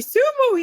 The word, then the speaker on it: Kisumu: Kisumu? ACHIENG AGUTU: Kisumu.